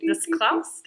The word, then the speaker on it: Discalced: So Father Brad is currently discalced.